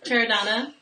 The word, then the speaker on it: Chiaradonna: I just had lessons on how to say this name. Chiaradonna.